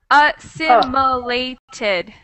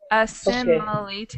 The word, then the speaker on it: assimilated: It's actually 5. Assimilated. Assimilated. Okay. So that's 5.